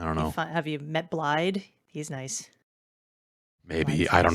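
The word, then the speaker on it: Blaidd: wolf it's a cool big wolf guy named blide it looks like it's spelled blade but it's pronounced blind oh but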